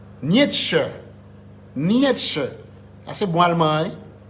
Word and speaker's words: Nietzsche: Nightzer, monsieur, pardon non monsieur. Night. Est-ce que j'ai bien prononcé? Nietzsche.